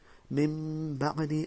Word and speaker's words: من بعد: It's not min. You have to pronounce qalb, which is mim. Basically join the memes together. This meme and this one. Mim ba'di, and you stretch it a bit.